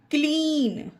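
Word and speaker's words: clean: Meet, fair, क्लीन। इसे सी में का उच्चारण देंगे, क्लीन होगा, ये सी है तो स्ली नहीं।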